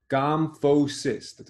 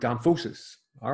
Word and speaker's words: gomphosis: Gomphosis. That's a three-syllable word. Gomphosis. All right.